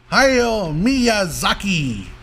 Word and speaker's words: Hayao Miyazaki: Hayao Miyazaki. That's the pronunciation.